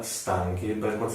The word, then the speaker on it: stanchi: essendo una cifra si aggiunge racca che diventa stanchi mi parlano la pronuncia nel modo corretto abbiamo poi la seconda